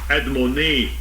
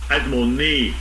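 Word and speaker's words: אדמוני: Adomni is spelled differently. Let me say it. Let me play it. Strong's H132. Admoni. Admoni.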